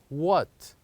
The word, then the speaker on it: what: two the word is what what so the word is what what do you think the silent letter is the silent letter is with this word is letter h letter H so here